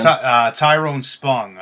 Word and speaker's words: Tyron Spong: Tyron Spong.